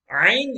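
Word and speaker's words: ع: number 18 is ein ein is again pronounced from the middle part of the throat if you may remember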